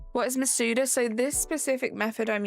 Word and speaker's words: Masuda: How is it pronounced? Masuda? Masuda. Ah, okay. You thought it was Menuda?